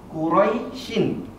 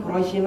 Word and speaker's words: Quraisy: harus wakaf dulu nah ketika wakaf bacanya kita harus mensukunkan huruf yang terakhir jadi bacanya bukan quraisyin lagi melainkan Quraisy ya Nah Ustaz Gimana kalau